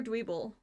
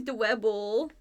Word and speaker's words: Dwebble: Is it Dwebble or Dweeble? Or I did say it okay. I was like, I feel like this whole time I've been saying it wrong. Okay, I said it right.